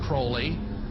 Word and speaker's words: Crowley: have his name pronounced crowley to rhyme with holy and the satanist today